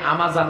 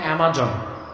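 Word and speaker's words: Amazon: আপনারা যেটাকে আমাজন বলেন, উচ্চারণটা অ্যামাজন।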